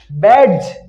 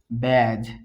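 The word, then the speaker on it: badge: ব্যাডজ। বি এ ডি, ব্যাড, জি ই জি, ব্যাডজ উচ্চারিত হওয়ার কথা, কিন্তু কি উচ্চারণ হয়? ব্যাজ।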